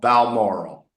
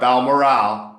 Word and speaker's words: Balmoral: Laurel Balmoral. Not Balmoral, Balmoral, because it rhymes with laurel.